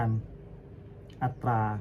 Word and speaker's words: อัตรา: 13 คำ ศัพท์ เช่น คำ ว่า อัตรา ให้ ออก เสียง ต โดย ใช้ สระ อา ร่วม กัน อัตรา งี้ เหรอ เป็น เสียง ควบ ก้ำ ออก เสียง ว่า ตรา อ๋อ คำ ว่า ทิตวา ให้